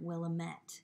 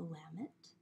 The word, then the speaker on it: Willamette: not you were wondering why I pronounced it that way instead of will Ahmet it actually is the lament valley in Oregon and it did not